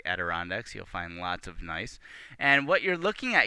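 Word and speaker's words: gneiss: a picture of uh the rock nice and that's spelled g n e i s s and this is sort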